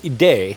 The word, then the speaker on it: ID: To keep a more affordable option, the company also chose to build the ID19 with ID being pronounced ED in French and thus the same as the French word for IDA.